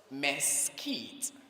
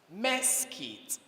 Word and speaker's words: mesquite: your teacher the word the first pronunciation is Mesquite the second mess kids Mesquite mess kit spellers